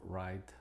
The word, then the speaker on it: write: Y con algunas consideraciones es de que es muda cuando precede a la R, como estas palabras: rap, wrestle, write.